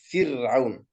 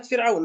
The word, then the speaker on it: فرعون: يعني مثل عندما نقول مثلا كلمة كذاك بعد الكسر حيث سكنت، مثل كلمة فرعون، الراء ساكنة لكن سبقت بكسرة وهي الفاء، أيضا ترقق.